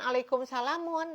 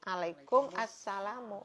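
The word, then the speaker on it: وعليكم السلام: alif lam syamsiah ya Jadi bukan alaikum salamu tapi alaikum assalamu jadi bacanya Waalaikumsalam ini masih banyak sekali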